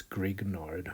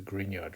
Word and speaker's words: Grignard: His name is I believe is pronounced Greenyard. Um often like uh undergrad oak students that who are not might not be paying attention might pronounce this Greek nard or something like that but it's a gineyard reagent.